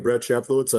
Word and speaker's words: Brett Cheplowitz: Um You nailed the pronunciation of the name, Brett Cheplowitz.